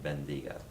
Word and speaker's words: bendiga: So I is pronounced hard E, E is pronounced hard A, and then bendiga. And stress is on the second to last syllable typically.